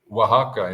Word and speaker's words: Oaxaca: How do you pronounce that? Oh, Oaxaca.